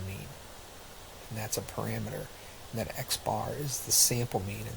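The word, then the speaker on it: x̄: formula that you'll see on the exam and X bar is equally the summation of x divided by N and we literally will pronounce this guy right here as X bar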